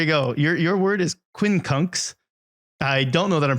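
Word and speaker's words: quincunx: skills yeah there you go your word is Quinn kunks I don't know that I'm pronouncing it correctly but it is spelled q-u-i-n-c-u-n-x Quinn conks what is Queen kunks Devin um when kunks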